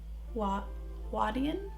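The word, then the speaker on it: huadian: chinese culture they would do this thing called wadian i don't want to pronounce it h-u-a-d-i-a-n and that was the decorative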